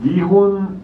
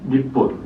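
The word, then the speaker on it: 日本: 그래서 이 니혼 니폰 우리는 그냥 한국이잖아요. 대한민국이고 원래 정식 국명은. 근데 여기는 아무튼 니혼이라고 할 때도 있고 니폰이라고 할 때도 있어요.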